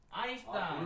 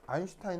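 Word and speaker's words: Einstein: 씨가 누굴까요 일성이 원스톤 아인슈타인 울톤 바로 아인슈타인 아 왜 아인슈타인 성이요 독일어로 아인이 1입니다 이게 스타인이 아니고 슈타인 슈타인도 이게 s 티면를 쉬 발음을 내거든요 독일어에서는 슈타인이 하는데 슈타인이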